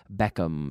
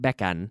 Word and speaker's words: Beckham: let's say David Beckham I like Beckham because his name ends with an M and I get to pronounce it Beckham not beckon but Beckham Beckham is a good